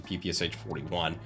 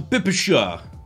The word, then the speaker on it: PPSh-41: look it's not that it's the pipisha which to my understanding is just the phonetic pronunciation in russia of ppsh which is just an acronym for like submachine gun of schwagen just like the pps43 is the same thing but for sudayev or sadayev but i don't live in russia i don't really speak russian so we pronounce things like acronyms as in the letters in the acronym so pps43 and ppsh41